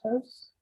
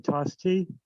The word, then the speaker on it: Tostie: three minutes is toast yes that's me can i be heard yes yes so you've been mispronounced my name is tostie i live at 128